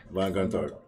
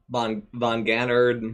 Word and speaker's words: Gontard: Like, that's how you say it? Gontard. Gontard. Nice. It was, I mean, he nailed it.